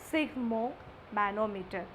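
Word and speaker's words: sphygmomanometer: is sigmo manometer okay the pronunciation is sigmo manometer instrument for measuring blood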